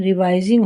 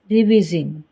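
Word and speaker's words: revising: छोटा ई रहता है, लेकिन जैसे ही VIS में साइलेंट ई जुड़ जाता है तो उसकी आवाज़ लॉन्ग आई हो जाती है। ING का आई छोटा ई रहता है। यही कारण है कि उसका उच्चारण रिवाइजिंग होता है, ना कि रिविजिंग।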